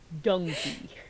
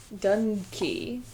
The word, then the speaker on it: donkey: Donkey. Well, don't pronounce it like it's dung. It's dunkey. Like dunkey. Donkey. Dunkey. Yeah, It's not like dun. You're overpronouncing it like there's a G in there.